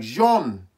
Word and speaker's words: Joan Sebastian: name right it's like it's not blonde it's not John it's like both of them combined like wrong like jean-sebastien yes oh the dancing horse